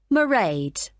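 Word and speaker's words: Mairead: see my assistant married sorry how do you spell that it's m a i r e a d merade okay got that it's not a name I'm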